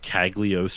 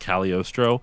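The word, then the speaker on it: Cagliostro: Well, it's cuz I genuinely thought, you know, it was before I realized it was pronounced Caliorostro. Yeah. But like the G is silent for some reason.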